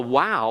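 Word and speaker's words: waw: and this is why In classical Hebrew the wow was not pronounced as a v because the V sound belongs to the unhardened the softened form of bait all right the third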